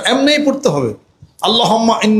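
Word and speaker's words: اللهم: আল্লাহুম্মা এই আরবিতে এমনে পড়তে হবে। আল্লাহুম্মা এমনেই পড়তে হবে। আল্লাহুম্মা এ পড়তে হবে।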